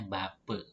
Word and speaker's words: Bapak: Selanjutnya huruf A di belakang sebuah kata dibacanya E. Misalnya Bapak. Nah, sebagai contoh Bapak. Tulisannya Bapak dibacanya Bape.